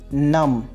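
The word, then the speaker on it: numb: Next हमारे पास word है नम। ये नम्ब नहीं है बल्कि नम।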